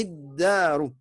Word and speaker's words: الدار: C'est que c'est une lettre shamsia. Donc, tu ne prononceras pas le lam.